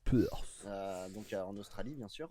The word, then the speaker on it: Perth: Déjà pour commencer, à Perth, oui, ça se prononce comme ça. Perth.